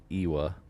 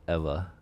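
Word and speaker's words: ʻEwa: So in the Hawaiian language, W's are pronounced like V's. So the town that's about to pass over is Eva, not Ewa. It's Eva.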